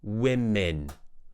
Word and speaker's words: women: w w w woman the plural is we like in set we women so we have woman and